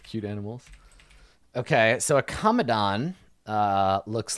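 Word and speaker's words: Kamadan: Is that how it's pronounced? Yeah, Kamadon.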